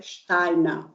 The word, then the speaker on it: Steiner: Ele é austríaco, mas como lá na região, vocês sabem, falam alemão, então a pronúncia é Steiner, Rudolf Steiner.